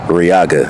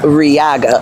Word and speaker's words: Riaga: And I don't know let me see if I'm pronouncing your name right. Yeah. How do you say it? Riaga. Riaga.